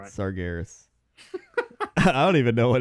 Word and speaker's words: Sargeras: tell you and then you tell me the right the real way to pronounce it you ready yeah Saras I think it's sargeras no you're wrong I'm right sargeras I don't even know